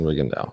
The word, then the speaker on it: Rigondeaux: fighter's name because I remember I was saying Rigondeaux for a long time, but it's not. So was everybody. It's not. It's Rigondeaux. I know, but everybody was saying Rigondeaux.